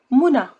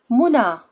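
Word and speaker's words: منى: Female names: Huda, Muna, Leila, Selwa. See, you don't pronounce ya, you pronounce it like you pronounce Alif. Huda, Muna, Leila, Selwa. It's like a sound at the end.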